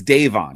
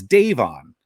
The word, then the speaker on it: Devon: And for instance, Rob gets into a good back and forth with, it's spelled, Devon here, but it's Davon. He corrects him. It's Davon, fighter of the night, Vaughn.